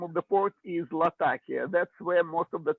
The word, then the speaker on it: Latakia: Well, the name comes from Syrian port Latakia. Name of the city, name of the port is Latakia.